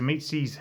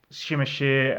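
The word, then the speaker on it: Tzimisce: to the zamizi uh the zumizi are pronounced as the meatsis I've heard it shimashir and all sorts of other pronunciations in between the zumiti araklan tied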